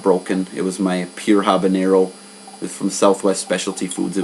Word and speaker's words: habanero: Most people make that mistake in pronouncing it habanero when it's actually just habanero, because the peppers are named after Havana, or in Spanish, Habana.